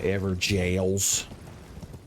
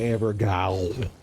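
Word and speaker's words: Evergaol: there's one of them ever jails since you're not allowed to pronounce words the way they're spelled it's an Ever jail and not an ever go and we're back up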